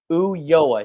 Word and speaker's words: Ulloa: Ulloa, spelled Ulloa.